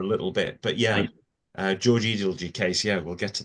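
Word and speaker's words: Edalji: about the case, and she thought it was pronounced Edelgy.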